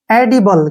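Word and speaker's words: edible: जैसे next word है ई डी आई बी एल ई इसका उच्चारण कैसे करेंगे ध्यान से देखिए यहां पर ई का जो उच्चारण होगा वो ए के रूप में करना पड़ेगा और डी का उच्चारण ड हो गया और आई से ई की मात्रा हो गया बी से ब और एल का उच्चारण ल हो गया ई का उच्चारण हम नहीं करते हैं एडिबल क्या पढ़ेंगे इसको एडिबल एडिबल होता है खाने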